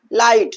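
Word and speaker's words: light: आपने कभी सोचा कि हम लाइट में सिर्फ एल आई टी कहते हैं। लाइट जी एच नहीं बोलते हैं यार।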